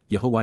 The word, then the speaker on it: Yahowah: and Prevail yah's Yahweh God's one and only name pronounced yahwah H based upon haa